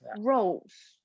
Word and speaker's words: rose: Astros what I don't I can't play with you without yes it's rice and rolls like a rose a red rose it is the same pronunciation do you know the